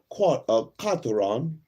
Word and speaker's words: quarteron: The French word quarteron, pronounced roughly as quarteron, is a noun meaning a person with 1/4 African, Aboriginal, and 3/4 European ancestry.